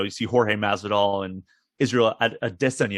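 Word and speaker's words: Israel Adesanya: see jorge masada and israel at a destiny apparently is the the correct pronunciation i've been corrected is that right yes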